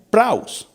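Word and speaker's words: πραΰς: Esta palabra manso viene de un vocablo griego que dice que se pronuncia praus.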